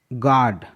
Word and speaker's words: guard: गार्ड, GUARD, जी है, जी के बाद यू है और यू के बाद एक वाउल ए है इसलिए यू साइलेंट है।